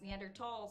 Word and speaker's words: Neanderthal: like you know anymore Neanderthal is pronounced neander tall so maybe the foundational